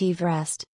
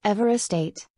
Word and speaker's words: Everest: Mount Everest is pronounced Everest, not Everest 8, as it is named after George Everest.